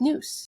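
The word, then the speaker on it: νοῦς: And I think that leads nicely into the third virtue, which is understanding, or in Greek, that's pronounced nous.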